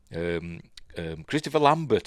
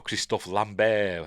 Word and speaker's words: Christophe Lambert: Christopher Lambert, or Christophe Lambert, however you want to pronounce it, as Tarzan.